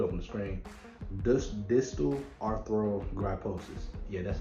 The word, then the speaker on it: distal arthrogryposis: i'm gonna put up on the screen this distal arthrogryposis yeah that's how you say it it's basically